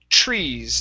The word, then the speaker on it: trees: we have the word trees now with the word trees the tr you want to pronounce that like a c-h-r sound it's sure trees trees trees